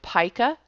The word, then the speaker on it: pica: do desktop publishing um our sizes are determined by paa and that is spelled p IA and points just like